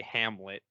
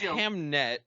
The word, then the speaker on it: Hamnet: Well, I saw this, and my brain immediately wanted to say Hamlet. Hamlet? But it's Hamnet.